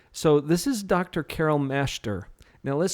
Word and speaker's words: Masheter: So we're not pronouncing that middle E. It would read Masheter, which some of your family pronounces it that way.